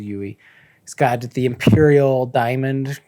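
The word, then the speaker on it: Yueh: with his different teachers, Yui, and who actually, when I was reading, I just pronounced looks as like a Yu, Klingon. but I guess it's Yui.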